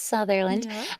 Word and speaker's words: Southerland: name is Southerland spelled souland but it's pronounced southernland um yeah I uh